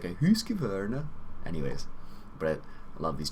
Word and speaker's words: Husqvarna: This U actually has, I think it's like 2 dots on it, and it's not Husk, it's Husk. Husqvarna. Husqvarna. It's a weird sound.